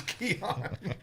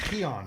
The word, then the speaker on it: Keon: players I can't pronounce Keenan Coleman was a struggle oh it wasn't Keon Coleman it's Keon what did I I said I didn't mess that up it's Keon I was joking did I say Keon